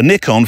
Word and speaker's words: Nikon: was at the BBC he bought me a Nikon Nikon Nikon wherever you are in the world pronunciation guide a nickon film camera more it was a more sort